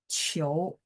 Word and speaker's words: 求: Nah, huruf ini, apa namanya, bacanya cio, Qiu.